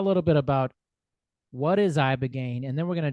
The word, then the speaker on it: Ibogaine: Uh, Yeah, Ibogaine.